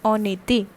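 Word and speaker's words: en été: in summer all right so how it is pronounced in the similar way that this is a consonant and this is the vowel and they get connected so it forms on it that is in summers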